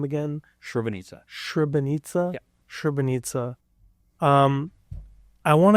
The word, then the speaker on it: Srebrenica: Srebrenica.